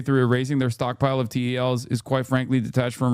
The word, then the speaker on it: TEL: TEL is pronounced TEL, Transporter Erector Launcher.